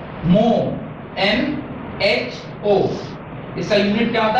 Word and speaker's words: mho: गाय को तो क्या आवाज निकालने देगा, वो मो है, एग्जैक्टली निकालते नहीं, थोड़ा और तेज और थोड़ा लंबा भी जाएगा नहीं। हाँ, एक बार आप अटेम्प्ट करना। तो ये C जो है वो मो के बराबर होता है, MHO, और इसको लिखते भी